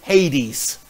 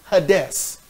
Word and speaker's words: Hades: In the Greek, it's Hades, where people say Hades. It's pronounced Hades.